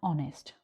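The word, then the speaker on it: honest: तो like we have ऑनेस्ट।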